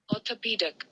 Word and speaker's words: orthopedic: देखिए यहाँ पे लिखा हुआ है ऑर्थोपेडिक। अब सुनते हैं हम लोग इसको कैसे प्रोनाउंस करना है, ध्यान से सुनेंगे, गौर से सुनेंगे एकदम। हाँ, गौर से सुनो इसको, एक मिनट। हाँ, Orthopedic.